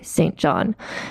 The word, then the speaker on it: St. John: You see how I pronounce that? That's what British people say, St. John.